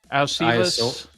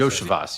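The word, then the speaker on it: Iosivas: I thought you were going to go with, I'll mispronounce his name, their third receiver. Alcivas. Those are literally the three names I looked at. Browning, Iasovis, whatever. Yoshivas, I think is how he Yoshivas, you're right.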